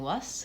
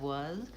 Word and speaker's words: was: It's a place where if you have a tendency to devoice your final Z sound, like saying was instead of was, then you can practice on phrases like was it, was I, was he.